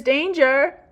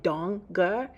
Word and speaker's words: Danger: Danger! He mispronounces my last name, which doesn't rhyme with stranger, like everyone assumes. It's actually Donger.